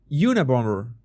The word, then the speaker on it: Unabomber: The second B is silent. Unibomber, like bomber, dude. The last B is in a bomber. Unabomber.